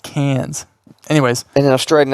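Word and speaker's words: Cairns: c a i r NS oh it's actually pronounced cans anyways in an Australian accent I wouldn't even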